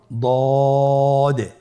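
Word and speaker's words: ض: দদের মধ্যে নুক্তা রয়েছে দদ হারাফটি উচ্চারণ করার সময় অবশ্যই তিন আলিফ টেনে পড়তে হবে আপনার সাথে বলুন দ আবার বলুন দ আলহামদুলিল্লাহ দদ হরফটিও মোটা হরফ মোটা করে উচ্চারণ করতে হবে দদের মাখরাজ জিহ্বার গোড়ার কিনারা সামনের উপরের দুই দাঁতের গোড়ার সঙ্গে লাগিয়ে উচ্চারিত হয় আপনারা আবার উচ্চারণ করার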